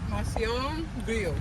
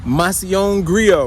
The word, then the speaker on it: Macillon Grio: How you pronounce it, Deja? Macillon Grio. Macillon Grio.